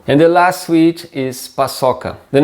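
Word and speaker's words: paçoca: sweets in brazil so the name is pasoka again this sea thing and we say like two s's double s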